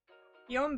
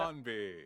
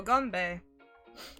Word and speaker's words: Ganbei: Yombe. I think that's how you pronounce it. Ganbei. Oh, Ganbei. Nice one.